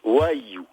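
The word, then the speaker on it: Vhaïyû: il va falloir dire 3 fois le mot Waiyu. Alors, ça s'écrit V-H-A I tréma Y U accent circonflexe. D'accord. Et ça se prononce Waiyu.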